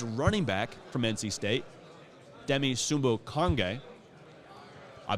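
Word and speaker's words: Demie Sumo-Karngbaye: with him his running back from NC State, Demi Sumbo-Konge. I butchered his name yesterday at another Radio Row segment, so I wanted to make sure we got that right. Demi Sumbo-Konge.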